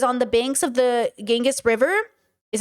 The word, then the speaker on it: Ganges: Yet, it was on the banks of the Ganges River, is how you say it, that her search ended when 1990, she met her teacher, Siri Punja.